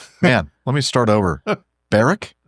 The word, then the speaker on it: Berwick: let me start over baric baric yeah baric so the W is silent then it is okay